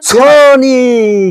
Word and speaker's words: Sony: উচ্চারণ ঠিক মতন কর। উচ্চারণের মত এই তুই ক্যামেরা কিনবি আবার। মান ইজ্জাত কিছু রাখবি তুই। Sony camera. Sony camera.